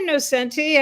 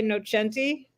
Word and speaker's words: Nocenti: time no that's fine no centi no chanti either way is fine how do you say it I say no centi I think in Italy they say Noti but I've always said no centi no centi oh good